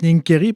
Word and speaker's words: Nincheri: En fait, on prononce Nincheri parce qu'en italien, le CH, che, se prononce K.